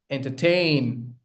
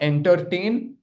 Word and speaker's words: entertain: examples of words, of 3-syllable words, where the stress lies on the third syllable. Okay? Here, let's start. 1 second. Here you go. The first one, entertain. La la la, entertain. Not entertain, it's entertain.